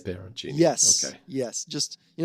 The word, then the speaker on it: peperoncini: Yeah, it's spelled wrong because it's got an extra P. Pepperoncini. No. Is how I should be saying. You should be almost. You should be saying peperoncini.